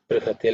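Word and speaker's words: बृहते: In terms of pronunciation, br, okay, br, not bri or not bru, it's a br, okay. It's the rikara in the vowel, okay. Brihate, like Krishna, Hridaya, all of them have the same.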